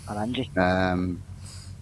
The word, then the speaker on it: Oranje: Is that how you pronounce it, Kerr? Oranje? Yep, Oranje.